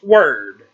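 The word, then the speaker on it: Wyrd: it smelled w-why rd does that not sound like weird to anybody at home no it's pronounced word something is up with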